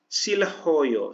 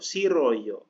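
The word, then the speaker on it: 싫어요: berarti Joda dibacanya ya silhoyo sirhoyo siroyo siroyo dibacanya ya jadi hilang ya apabila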